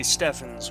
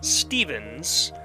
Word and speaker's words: Steffens: i'll say it again if if whoever chose the name stefan's wanted to be wanted it to be pronounced stevens they would have spelt it with a v they would have spelt